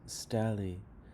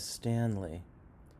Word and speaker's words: Stanley: yut say m pis you're kind of pronouncing this word as stally but the word is Stanley Stanley i' gotten to dinner